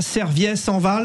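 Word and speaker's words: Serviès-en-Val: Est-ce que je prononce bien déjà Serviès en Val? On est d'accord? C'est parfait.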